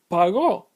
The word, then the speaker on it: pagó: But it's pronounced pagó, with the stress on the last syllable, causing it to be aguda.